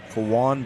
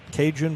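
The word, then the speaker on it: Cajun: Kawan is spelled C A J U N. Every time I when I first looked at it, I thought Kun Bradford. That's a Then I realized, no, that's not it.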